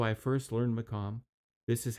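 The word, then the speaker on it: maqam: Because this shows, for instance, it's spelled M A Q M. That tells you it's it's more the Arab M and not the Turkish MOM.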